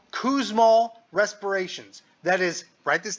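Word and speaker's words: Kussmaul: to say it I don't know how to spell it so I'm looking it up right now starts to the K it's called kousol respirations that is write this down k u SS m a u l kousal respirations those are fast and deep fast and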